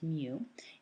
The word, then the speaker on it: mu: is the letter mu and that's how it's pronounced mu is equal to and it's exactly the same